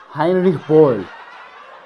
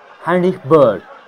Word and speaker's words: Heinrich Böll: Hani Heinrich Böll. Heinrich Böll. Heinrich Böll şeklinde telaffuz ediliyormuş.